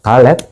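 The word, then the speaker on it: דלת: 달렛. 달렛은 그고 그다음에 연결 붙인 상태에서 달렛이에요. 요렇게 내려옵니다. 자, 요게 달렛이고요. 달렛은 달렛 달렛트라고도 하고 읽을 때 쉽게 달렛이라고 읽기도 해요.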